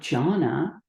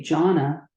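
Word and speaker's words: jhāna: samade and Janna I I will say Janna um this is the poly word the Sanskrit word is uh Giana and in Chinese it's Chan and everyone will recognize this in Japanese it's Zen so when we talk about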